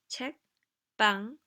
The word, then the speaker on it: 책방: 책방, notice 책방, right? Makes the next sound stronger.